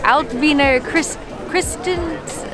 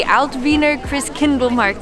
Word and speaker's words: Altwiener Christkindlmarkt: We have come to the Altwiener Christens. Oh, I messed it up. We have come to the Altwiener Christkindlmarkt.